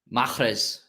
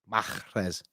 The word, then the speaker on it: Mahrez: You're supposed to pronounce the H in Mahrez. How do you spell? Mahrez. Mahrez.